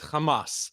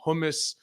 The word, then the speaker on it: Hamas: mean first of all it's Hamas let's I mean he doesn't even know how to pronounce it he's calling them humus uh you know hasbalah